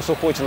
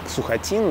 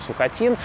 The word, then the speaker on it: Сухотин: Дальше был такой поручик Сухотин, я всю жизнь думал, что он Сухотин, а оказывается, он, говорят, Сухотин, да, вот научные сотрудники так произносят его фамилию, Сухотин.